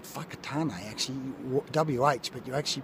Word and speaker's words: Whakatane: people have it's called fakat actually wh but you actually pronounce the wh as an F which is interesting fakat what's a great place